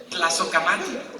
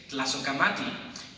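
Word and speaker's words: Tlazohcamati: But Tlazocamati, that's the title of the piece. It's hard to pronounce because it's not Spanish. It is Nahuatl.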